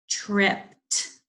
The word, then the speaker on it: tripped: Tripped. I tripped over the stair. Tripped. Has that t sound, but it's spelled ed.